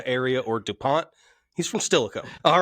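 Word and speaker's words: Steilacoom: That and NFL people, it's Stillicum. That's how you pronounce it, not Tacoma area or DuPont. He's from Stillicum.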